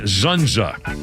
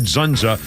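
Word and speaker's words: Dzundza: you see him, George Zunza. I think it's how you pronounce it, D-Z-U-N-D-Z-A. George Zunza was famous for being on Law & Order for years.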